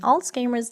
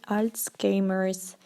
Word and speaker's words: Alzheimer's: И многие люди неправильно произносят, поэтому правильное произношение будет Alzheimer's disease, okay? And some people say Alzheimer's disease.